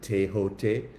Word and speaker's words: Thoth: very personal encounter with thought some people also pronounce it teot um thought came um